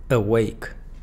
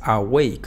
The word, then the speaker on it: awake: La clave para que pronunciemos correctamente estas palabras es que siempre la schwa se encuentra en la sílaba átona. En el caso de awake, lo fuerte está en wake.